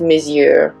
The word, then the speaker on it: Monsieur: to be talking about the Lancome month it's pronounced Monsieur but it's spelled like moxier so it's the Lancome Monsieur a big volume mascara number one big is